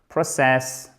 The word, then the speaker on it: process: l'entreprise extrêmement souvent et vous pourriez dire process, énoncé, process, ok? Accent tonique sur la première syllabe, hyper important.